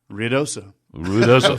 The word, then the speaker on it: Ruidoso: Well, we have a listener who has texted us and wants to know how you pronounce Ruidoso. Ruidoso.